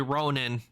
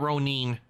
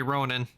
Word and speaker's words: ronin: To tell you the truth, the correct correct pronunciation would be Ronin, not Ronin. The correct pronunciation would be Ronin.